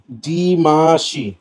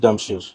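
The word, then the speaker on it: Demachy: এমন কিছু একটা, মানে ফ্রান্সের জানি না প্রোনাউন্সিয়েশন কেমন। আমি এর নাম বলি হচ্ছে ফ্রান্সিস ডামশি। মানে আসলে এটা ওরে জিগাইতে হবে। বানানো হচ্ছে FRANCOUCOIS, ফ্রান্সোয়াইস ডিমাশি। এখন আমরা হেনসি ক্রোনজিকে ক্রোনিয়া বলি না, তো ডামশি হওয়ার কথা হিসেবে ডিমাশি।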